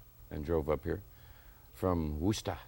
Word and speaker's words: Worcester: Yeah, well, when I first came to town, I was looking at it and I was going, Worcester. You know, I was thinking Worcestershire, you know, sauce.